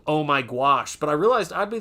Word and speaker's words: gouache: I used to pronounce it goes. Well, that's funny cuz it honestly I didn't know how to pronounce it for a very long time.